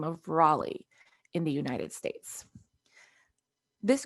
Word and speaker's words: Raleigh: say this to you this word right here actually raleigh this was somebody's name